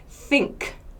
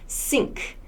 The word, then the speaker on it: think: so think bath again make sure this especially the unvoiced th sound this should not be an s so not sink so when i make the s sound sink my teeth are together sink that's not correct put your tongue between